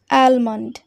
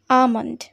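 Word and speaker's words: almond: মহিলা এল এম ও এনডি এই শব্দটাকে অনেকেই প্রোনাউন্স করে অ্যালমান্ড অ্যালমান্ড কিন্তু এই শব্দটার সঠিক উচ্চারণ কি তোমরা কেউ জানো এই শব্দটার সঠিক উচ্চারণ হবে আলমান্ড আমন্ড অর্থাৎ বাদাম তো অ্যালমান্ড আমরা বলবো না তাই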